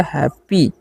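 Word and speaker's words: happy: तो यहां पर एच का उच्चारण करेंगे ह और ए का ए है। डबल पी है तो प संयुक्त वाई का चरण दीर्घ। तो हो गया हैप्पी।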